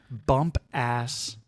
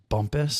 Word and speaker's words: Bumpass: it's in this place it looks like it's pronounced it's in Virginia bump ass bump ass Maryland or Virginia I'm sorry Bumpass Virginia I'm sure it's pronounced Bumpus Bumpass Bumpus but uh it definitely looks like